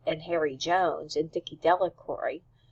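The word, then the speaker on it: Delacroix: Harry Jones and Dicky delory the villagers pronounced this name Delroy evenly eventually made a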